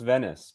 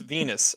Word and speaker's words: Venus: pronunciations of that yeah it does look like it could be pronounced Venice because it has a U.S it's it's Venus anyways uh no I it